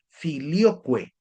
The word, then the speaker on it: filioque: Si quieren averiguar un poco más de esto, les invito a investigar el término filioque. Se escribe filio, Q-U-E, es decir, Q-U-E, filioque, que tiene que ver